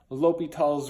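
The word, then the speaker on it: L'Hôpital: spelled this way and it looks like it says well hospital but it was originally l'hopital's rule has a little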